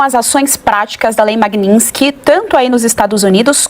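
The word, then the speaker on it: Magnitsky: É, a lei se chama Magninski. Ela e Magninski, ela vem de um de um advogado Sergei Magninski.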